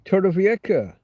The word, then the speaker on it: Torrevieja: In Torrevieja, if you want to give it its proper pronunciation, is a city on the southeast coast of Spain, on the Costa Blanca south.